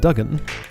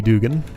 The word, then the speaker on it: Dugan: each of these rooms so that was back when you pronounced it Duggan there was one or two of those in newer hold city beneath I think but I'm pretty sure it is supposed to be Dugan it has said both